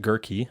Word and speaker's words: Gehrke: Gehrke, and I'm still pronouncing it correctly, right?